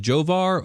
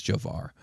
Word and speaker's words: Jovar: Now we're in it's either pronounced Jovar or Yovar, but I think it's Jovar.